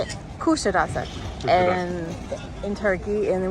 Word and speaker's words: Kuşadası: Kuşadası, and in Turkey, and then we went and toured the ancient city of Ephesus, and this is Kuşadası Harbor. I said it wrong again. Kuşadası.